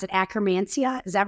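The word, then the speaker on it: Akkermansia: obsessed with it is it how do you pronounce it acromancia is that right yes acromancia nice and pendulum and the whole thing so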